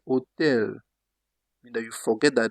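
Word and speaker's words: hôtel: For example, they say hotel. Mean that you forget that there is H. Just start with the O. Hotel. Hotel. Usually H in French is silent.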